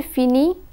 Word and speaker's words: finis: We find that je finis, tu finis, il finit, and elle finit have the same pronunciation. The final letters are not pronounced.